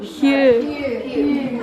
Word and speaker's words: Hugh: You've also got the silent GH in this word. What's this word? It's a name, really. Name. Hugh.